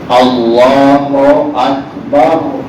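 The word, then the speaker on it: الله أكبر: نہیں، اس کی ادائیگی تلفظ لحن عرب میں جس طرح ہے اس طرح پڑھنا ہے. اللہ اکبر، تو فرمائیے اللہ اکبر درست طریقے سے.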